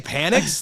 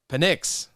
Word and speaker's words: Penix: Did you just say Panics? Like with like Panic at the I'm Disco? trying to really put the long E in the E. Penix. It just depends on where you put the pronunciation, like where you put the emphasis on the wrong syllable.